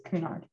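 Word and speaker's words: Cunard: that makes sense and she did pronounce it correctly it's kunard so is this oh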